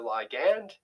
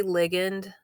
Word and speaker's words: ligand: You can see here that the G protein is inactive because there is no, I say ligand, that's just how I pronounce it, because there is no ligand.